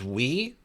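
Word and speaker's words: oui: Oh, that's we. That's French for we. Oh, I don't speak French. Okay, you got me on that one, bud. Okay, so that one's done. Okay, we pronounce it like we we I can take this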